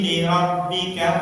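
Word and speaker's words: لِرَبِّكَ: Linya jangan dipanjangkan Ibu. Fasalli linya pendek mawon. Fasalli li rabbika wanhar.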